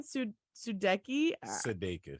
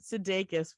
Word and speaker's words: Sudeikis: Jason Sudeikis. Sudeikis.